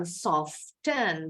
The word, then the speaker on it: soften: Bacanya bukan soften, dari kata soft, lembut. Emang kedengeran ada T-nya. Tapi kalau ditambahin akhiran en, T-nya jadi silent.